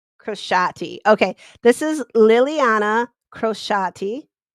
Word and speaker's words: Crociati: me look at my cheat sheet, how to pronounce her name. Crociati.